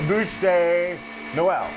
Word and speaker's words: Bûche de Noël: A bûche de Noël.